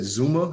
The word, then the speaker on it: Zuma: know already what happened to uh you said zuma that's how you pronounce his name yeah jacob zuma i think but isn't that the guy that